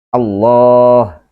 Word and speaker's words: Allah: fathah dibacanya ala tetapi pada lafal Allah ini huruf lam juga maka dibaca dengan tebal dan bunyinya kemudian ketika sebelumnya ada harakat kasrah maka lafadz Allah lamnya dibaca tipis menjadi la seperti lamnya biasa Apakah